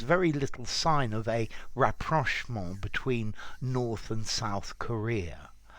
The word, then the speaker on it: rapprochement: Rapprochement. Rapprochement. I have heard this pronounced rapprochement as well, so I think that's also possible, but I would prefer the French pronunciation.